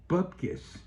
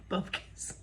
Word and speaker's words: bupkis: I said, bupkis. He said, what's bupkis? I said, nothing, because I'm a Jew. There's a sentence. Guess he couldn't tell. Bubkis.